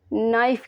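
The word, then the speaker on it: knife: चाकू को इंग्लिश में नाइफ कहते हैं नाइफ के इसमें साइलेंट हो जाएगा जाइन मास जायन मास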